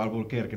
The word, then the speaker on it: Alburquerque: y la cuarta es Alburquerque con una r no con con la pronunciación estadounidense de albir no eh Sino como Alburquerque no como reclamando ese